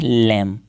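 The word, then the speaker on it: lamb: लैम। ये आप पर याद रखें, लैम, ठीक है। बी जो है वो साइलेंट होते हैं।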